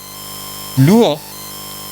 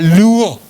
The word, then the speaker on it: Luo: We always used to say Luo. See the difference? Luo. Luo. That's what our Kenyan friends say. We are Luo. But we always said here we are Luo. You understand? It was L-W-O. They say L-U-O. Even the pronunciation is somewhat different.